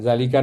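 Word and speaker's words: ذلك: Nah dalalika najmun. Zanya panjang juga ya.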